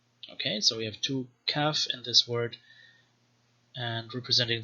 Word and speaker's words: Kaf: Next is the Kaf, with two pronunciations, either a stop, K, or some kind of post-vocalic fricative, Ch or Cha.